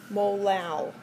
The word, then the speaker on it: molal: And we would pronounce this 0.443 molal. It's a weird word.